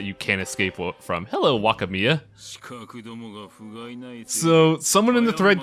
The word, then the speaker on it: Wakamiya: Hello, Wakamiya. So, someone in the thread called me out. I was indeed pronouncing it wrong.